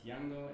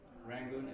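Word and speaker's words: Yangon: of rangun we are calling it yango because yango is a correct pronunciation of the word rangun is a angiz pronunciation so um my Early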